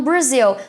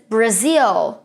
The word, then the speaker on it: Brazil: fala Brasil geralmente e os brasileiros tem um pouco de dificuldade de pronunciar essa palavra inglês e falam Brasil mas Brazil Brazil então ele sai com com uma entonação e bem mais enrolada né quando você vai